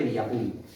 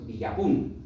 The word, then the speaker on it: Villapún: Curioso, pero que muy curioso el nombre del pueblo, Villapún, comenta haciendo especial énfasis en la última sílaba.